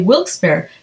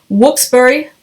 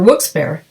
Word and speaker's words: Wilkes-Barre: published in wilkes-barre Pennsylvania however if you say wilkes-barre you are definitely an outsider whoops burry or whoops bear is the correct pronunciation according to my dad who grew up